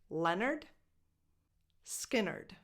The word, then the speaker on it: Lynyrd Skynyrd: So it's pronounced Leonard, just like Leonard Cohen. Leonard Skynyrd.